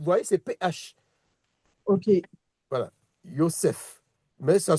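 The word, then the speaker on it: יוסף: Lorsqu'on dit Joseph, on dit c'est Yosef, on dit un feu, on dit pas et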